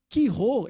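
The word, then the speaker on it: Chi Rho: E o X é um Ki, que é como se fosse um CH, mas pronuncia Ki. Ki Rho, esse XP, é a forma grega de escrever Cristo.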